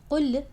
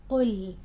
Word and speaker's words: قل: So make sure your qaf is heavy, your lam is light, and you're not adding a hamza after lam. You're not saying قل, you're saying قل.